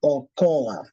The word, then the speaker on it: okoa: For example, you can have the word Okoa. Now, here is O-Ko-A. It's called Okoa, which basically is pronounced as O-Ko-A.